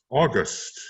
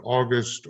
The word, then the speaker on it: August: be touched upon here august and by the way watch how he plays with that word because in english you can pronounce it august or august and they mean two different things that are related however